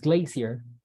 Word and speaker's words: glacier: there you go so glacier well sounded a little bit awkward but glacier like British like it's Glazier so what do you